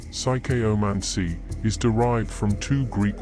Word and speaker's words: psychomancy: The term psychomancy, pronounced psychomancy, is derived from two Greek words.